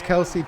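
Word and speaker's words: Kelce: snap waiting looking throwing left side and caught kelsey in the end zone touchdown west west takes the lead six nothing thrown to travis kelsey and i have to apologize to you mater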